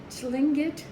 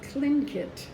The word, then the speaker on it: Tlingit: Now, there's two different pronunciations. They're called Tlingit or Tlingit, whichever one is easiest for you to pronounce.